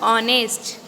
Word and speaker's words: honest: So students, look at the word honest. Here H is silent and it sounds like a double A sound.